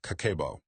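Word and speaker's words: 家計簿: Pronounced kakeibo.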